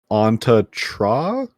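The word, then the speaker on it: Antje Traue: Side note, upon a little bit of research, it appears as though you pronounce her name Anta Tra?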